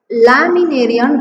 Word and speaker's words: Laminaria: ஓகே, the syllable is here லே மீ நே ரியா, அஞ்சு சிலபல் இருக்கு. Okay, means what? லே, எல்ஏ லே, எம்ஐ மீ, என்ஏன்ன, ஆர்ஐ ரை யா. ஓகே, ஸோ லேமினேரியா அப்படின்னு இருக்கு.